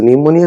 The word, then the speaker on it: pneumonia: So pneumonia starts with P as you can see, but the P is silent.